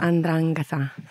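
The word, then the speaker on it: 'Ndrangheta: Yeah, how do you pronounce that? Andrangheta.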